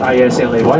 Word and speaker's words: Islay: The island of Islay, it's spelled I-S-L-A-Y, Islay, or the Mull of Kintyre, which is an old song sung as well by Paul McCartney.